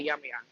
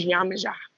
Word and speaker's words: Yemaja: That song Ye Yo by Erykah Badu, that was dedicated to Yemaya. Yemaja, sorry. My Nigerian friend be getting mad at me on how I pronounce it. It's Yemaja.